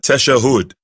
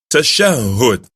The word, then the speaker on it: tashahhud: Remember, it's not tashahhud. It's pronounced tashahhud.